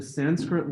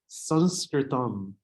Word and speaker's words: Sanskrit: So this week we're going to be talking about the Sanskrit language, also pronounced as Sanskritam. I'll stick to the pronunciation, the standard English pronunciation of Sanskrit today, not to take socio-political